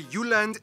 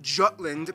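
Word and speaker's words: Jylland: full disclaimer ignore wikipedia i'm going to pronounce the location names in their proper danish context so here we go denmark is made of the uland not jutland peninsula that connects to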